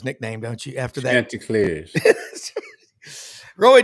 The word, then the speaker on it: Chanticleers: And by the way, you do know how to pronounce Coastal Carolina's nickname, don't you? After that. Chanticleers.